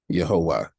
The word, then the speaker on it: Yahuwah: h w h and there are vowel pointings here that give us the pronunciation of yahuwah so as we're speaking